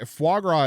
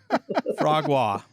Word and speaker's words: foie gras: Okay, foie gras is a thing, not a Foie verb. gras. And foie is what I'm saying, not foie. Fogwad.